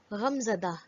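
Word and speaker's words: غمزدہ: In this case, Gol Hai retains its intrinsic Ha sound. For example, Te, Be, Alif, Gol Hai, Tabah, ruined. Ghain, Meem, Ze, Dal, Gol Hai, Ghamzada, mournful.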